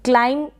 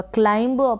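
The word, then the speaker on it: climb: तो यहाँ पर ये जितने भी स्पेलिंग्स है, यहाँ पर आप बी को प्रोनाउंस ना करें। अगर आप करते हैं तो, जैसे कि कॉम्ब में करते होंगे, क्लाइम में करते होंगे। अगर क्लाइम पढ़ेंगे तो करेक्ट होगा, क्लाइंब पढ़ेंगे तो गलत हो जाएगा।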